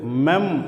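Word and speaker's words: מם: இந்த எழுத்தினுடைய அர்த்தம் தார்குச்சி அடுத்த எழுத்து அடுத்து 13வது எழுத்து மெம் அப்படின்னு உச்சரிக்கிறோம் இந்த மெம் என்கிற எழுத்தை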